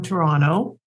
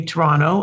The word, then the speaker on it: Toronto: which does not have except if you're canadian to say toronto and if you're not you say toronto and you always know the difference if they pronounce that second t they're either not a sports sportscaster or they're not from canada so i'm originally from